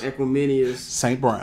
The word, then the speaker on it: Equanimeous: With Darnell Mooney, with Byron Pringle, with how you pronounce folks' name? Equanimeous.